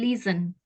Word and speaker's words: listen: Jadi T-nya itu nggak usah di apa? Silent kita sebut, nggak usah diucapkan. Jadi listen.